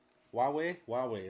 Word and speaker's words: Huawei: I always get the name wrong and everyone laughs at me. Huawei, that's it.